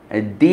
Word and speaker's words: the: When দি environment, দি এজন্য বলা উচিত যে শুরুতে হচ্ছে ভাওয়েল দিয়ে এনভায়রনমেন্টের, ভাওয়েলের আগে টিএইচ এ থাকলে তার উচ্চারণ দি হয়, আর কনসোনেন্টের আগে দা উচ্চারণ হয়।